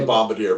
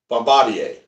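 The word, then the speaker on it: Bombardier: Well, I say Bombader, but everybody goes, "That's not how you pronounce it. It's Bombadier."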